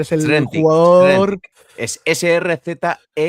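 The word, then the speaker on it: Srzentić: Es Srzentic.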